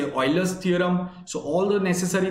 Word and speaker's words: Euler: It's E U L E R. Okay, it is pronounced as Euler, but it is E U L E R.